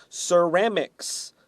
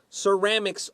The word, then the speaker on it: ceramics: pots number two is ceramics the first C is s the second C is K ceramics ceramics always has an S